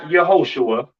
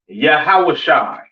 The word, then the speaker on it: Yahawashai: Now, Christ's name in Hebrew is not Yahuwah, it's not Yehoshua, all right? It is Yahawashai, all right?